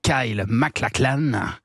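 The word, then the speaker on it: Kyle MacLachlan: a eu un un monument des séries l'acteur Kyle mlaclan je l'ai bien prononcé ouis super bien prononcé on a tous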